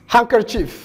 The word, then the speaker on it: handkerchief: Handkerchief sandwich wednesday xarafka da ayaa dhawaaq ahaan la